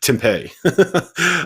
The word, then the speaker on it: Tempe: tempe that's that's how that's how the locals pronounce it jeff i don't know i don't know if you've ever i don't know if you've ever been to arizona but they pronounce it tempeh um in tempe uh